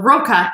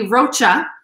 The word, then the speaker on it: Rocca: c is also a hard c sound so roca is how this is pronounced but if it were one c it would be rocha and if it were ca it'd be roka